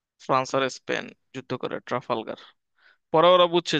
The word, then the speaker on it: ট্রাফালগার: Truck ফেলারটা মানে এই যে ট্রাফালগার, ঠিক আছে, এটা অনেকে ভুল করে, ট্রাফালগার যুদ্ধ, এটা হচ্ছে ফ্রান্স ও স্পেনের মধ্যে, উচ্চারণটা মাঝে মাঝে ভুল হয় যে আমার, যদি দেখতেছিলাম আর কি, দেখছি ভুল।